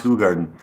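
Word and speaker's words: Hoegaarden: a r d n that's spelled h it's pronounced hug Garden uh I want to go but is so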